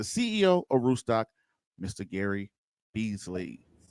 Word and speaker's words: Beasley: yeah absolutely so um so who is gary beasley so i would say i'm i'm an entrepreneur